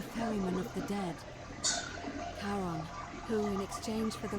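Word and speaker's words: Charon: it's just as you described it only your pronunciation is a little up the name you heard wasn't Karen it was c h a r o a that's in Harry one of the Dead Caron who in exchange for the right coin helps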